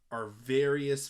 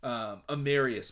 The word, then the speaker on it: Amarius: Georgia has Arvarius Mims, I believe is how you pronounce it. I might be messing that one up, but you could go with Mims. Amarius Mims, that's right.